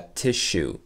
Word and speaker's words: tissue: Donc on prononce vraiment ce double S. Sh. A tissue.